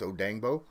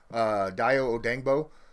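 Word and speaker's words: Dayo Odeyingbo: Even though it's pronounced or spelled one way, it's pronounced another. It is Odangbo. Dio Odangbo.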